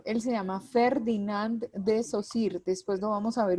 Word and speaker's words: Saussure: hago de la aclaración el apellido del señor se pronuncia saussure pero se escribe shaw sure y hay mucha gente que cuando se refiere a él le dice de todo chau sur bueno de múltiples maneras le dicen y uno lo alcanza